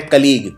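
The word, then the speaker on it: colleague: अगला शब्द है कलीग। कलीग होता है जो आपके साथ काम करता है, लेकिन इसको लिखते हैं कलेग। तो इसकी स्पेलिंग बहुत ही अलग है।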